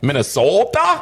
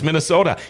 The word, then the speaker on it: Minnesota: Oh, Minnesota. And I say, I didn't say it like that. It's Minnesota. Yeah, Minnesota.